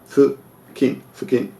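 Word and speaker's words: 付近: Now look, notice that fukin, so it looks like fucking, but it's not pronounced fucking. It's pronounced fukin.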